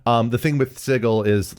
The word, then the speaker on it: Sigil: looks like it's spelled sigil but it's supposedly pronounced sigle um which is explicitly a place where portals